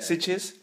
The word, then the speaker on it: Sitges: Sitges. Yeah. Sitges.